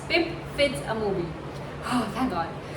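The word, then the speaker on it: Pip Fitz-Amobi: name is Little Kilton, and our protagonist is Pip Fitzamozy. Oh my god, I cannot just for the love of my life pronounce this right, but it's Pip Fitzamoby. Yes, now I've pronounced it correctly. It's Pip Fitzamoby.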